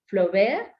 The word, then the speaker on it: Flaubert: pronunciación del apellido es Flaubert, ¿no? Todos los diptongos, generalmente en francés, tienen un solo sonido. Entonces, el caso de AU, el sonido es de una O, tal cual, la O del español, ¿no?